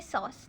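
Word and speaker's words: psoas: सॉस minor ठीक है तो इसको प्रोनाउंस हम करेंगे सॉस ठीक है तो सॉस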